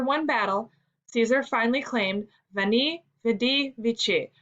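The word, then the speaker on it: veni vidi vici: battle caesar finally claimed vani vedi vichy pronounced in caesar's day as we knee we di meaning in latin i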